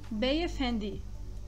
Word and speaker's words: Beyefendi: O D do turco tem o som de da, de, di. Beyefendi.